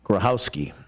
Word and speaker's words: Grochowski: uh so John grohowski his last name spelled like grochowski yeah but I guess you don't say the C it's qu it's silent grohowski uh He'll Be Our